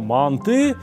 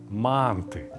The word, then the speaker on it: манты: И обратите внимание, куда я ставлю ударение. Ровно туда же, куда ставят все люди в Узбекистане и в Таджикистане. Я знаю, что в Казахстане говорят манты на русский манер.